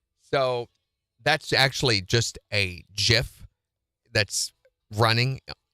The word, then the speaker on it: GIF: the curtain scene so that's actually just a gif that's running G continuously GIF is the correct way to pronounce it so that's running it's an image